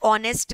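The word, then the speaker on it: honest: Point number वन, शी is dash ऑनेस्ट girl, she is dash ऑनेस्ट girl. क्या लिखा? एन, क्योंकि sound में क्या आ रहा है? ओ। Although the spelling is एच but sound is coming of a vowel.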